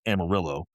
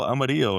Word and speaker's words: Amarillo: outside of Texas have read the name and they're like, "Oh, Amarillo," and I'm like, "Well, it's Amarillo," and I'm like, I'm correcting them to say it wrong.